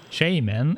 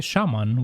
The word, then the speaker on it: shaman: were burnt to ashes shae man is the correct pronunciation but most people hate it really that's interesting over here we say a shaman we don't see shaymin there was nothing else